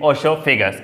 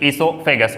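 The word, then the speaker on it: oesophagus: ठीक है, connected with ओसोफेगस, इसोफेगस, ओसो नहीं कहते हैं, ओ साइलेंट होता है, तो यहाँ पे इसोफेगस कहते हैं।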